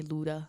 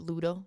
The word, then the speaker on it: Ludo: but people do tend to like just call me Luda. Like they get lazy and they don't like really pronounce it Ludo. They just say, "Hey, Luda."